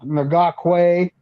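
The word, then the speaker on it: Ngakoue: And if somehow the Niners can figure out a way to bring in Yannick, it's Ngakwe, or there are several different ways to pronounce it. That's how I'm going to say it.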